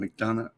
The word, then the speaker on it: McDonough: McDonough.